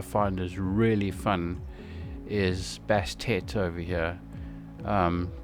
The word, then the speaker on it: Bastet: is really fun is Bastet over here. Um, please don't pronounce that name wrong because uh I've you know when I was watching the video it sounded like they said bastard.